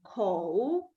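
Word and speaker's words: 口: And we pronounce it as a ko.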